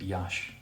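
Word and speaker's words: Iași: right next to yash i think you pronounce it yash in the eyes bit silent or muted all right oh we're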